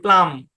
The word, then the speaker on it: plumb: এম বি নাম, THUMB থাম, CLIMB claim, PLUMB প্লাম, PLUMBER প্লামার, NUMBER number.